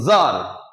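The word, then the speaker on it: czar: তারপরে ধরুন আমি কি বলবো, একটু চেঞ্জ করে করতে পারি, যেমন তখন কি বলতে পারি আমরা, ধরুন বললাম জার, জার, ZAR, জার, সি এর উচ্চারণ এখানে মিসিং আছে, ঠিক আছে, জার, জার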